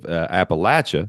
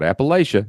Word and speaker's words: Appalachia: But the people who were in the hills and hollers of Appalachia, not Appalachia, y'all got to say it right, Appalachia, They kept their original Elizabethan English dialect.